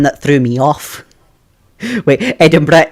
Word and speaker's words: Edinburgh: Wait, Edinburgh isn't hard to pronounce, but the pronunciation isn't obvious. Yeah, that I've always noticed it. Americans typically make the word sounds a lot harsher than the Scots would. And I've not I've not even heard the English make it as hard sounding as as Americans do.